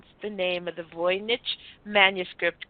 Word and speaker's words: Voynich: But the actual pronunciation is Voynich manuscript.